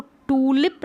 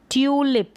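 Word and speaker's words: tulip: फिर यहाँ पर है इसको टूलिप नहीं पढ़ेंगे, इसको पढ़ेंगे ट्यूलिप, क्योंकि यू का उच्चारण जो है यू हो रहा है, यू है यू पढ़ रहे हैं।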